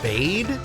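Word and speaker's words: Bede: It's actually pronounced Bade?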